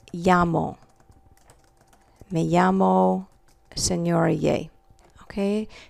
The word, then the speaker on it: llamo: This double L together, all right, is pronounced like a Y, like in the word llamo.